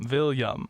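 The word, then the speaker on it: Viljam: a silly spelling um he has a J in his name but it makes a y sound oh what's his name yeah it's vam oh not not vilam vam vam vam Willam vilam with a V at the beginning v i l j v i l a m isn't that fun it's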